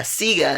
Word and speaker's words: Sega: I have now uh Sega is actually how you pronounce his name okay so Sega is Italian for saw because the ongoing joke